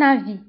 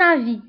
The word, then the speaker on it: avis: Je ne partage pas ton avis. Donc, je ne partage pas ton avis. Enfin, l'avis هو الرأي. Je ne partage pas ton avis. وبالنسبة للأفي نكتبها بإس في آخر الكلمة ولكن ما كنطقوهاش.